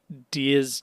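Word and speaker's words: Diez: Also, I think the show pronounces it Diaz Drake because it's the Roman number 10. And in Spanish, Diaz is 10.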